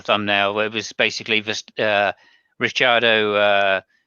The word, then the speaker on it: Ricciardo: I say Ricciardo because I'm not Italian. yeah. Ricardo, Well, actually, basically, funny thing, if he were Italian, you would pronounce him exactly Ricciardo. yeah. I mean, I tried to do my best. I'd say Yeah, Ricciardo. I would say do on the end instead of yeah. do, obviously. Ricciardo, Cuccia, famiglia, Giuseppe Verdighetti.